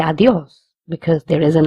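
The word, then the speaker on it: adiós: We will stress on this word because there is an accent on the O. Where there is an accent, we have to stress. So, adios.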